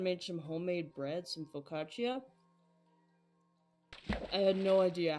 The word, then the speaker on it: focaccia: So, I always thought it was pronounced focaccia. no, it's focaccia.